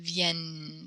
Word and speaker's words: vienne: But with the two N's, it makes a different kind of vienne sound.